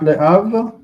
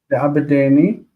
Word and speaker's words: לעבדני: Not le'av, because this is PL. Le'abedeni. 𝗥𝗘𝗦𝗡𝗏 Et bonan.